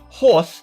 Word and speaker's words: HORS: Because I hash and chunk up my message, obtaining random subsets, this system is known as uh luckily it's pronounced horse so I can keep my video monetized.